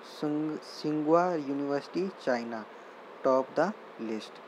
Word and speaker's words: Tsinghua: And Sungha University, T is silent, Tsinghua University, China, top the list.